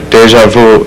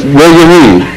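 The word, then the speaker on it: déjà vu: Because you shape your lips in the form of pronouncing U, but pronounce E instead.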